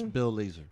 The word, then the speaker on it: Bill Lazor: Bill Lazor, is that how you pronounce his name? Lazor? Yes, Bill Lazor.